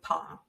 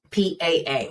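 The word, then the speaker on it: Paa: So the last walk I did with Pa, P-A-A is how it's spelled, Pa.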